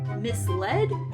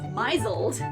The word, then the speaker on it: misled: either automaton or banal until I was 15 years old I pronounced misled as miseled ugh it offends me